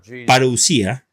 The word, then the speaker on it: parousia: describir el regreso de Jesús la primera es parusia en inglés se escribe parousia y tiene un significado muy especial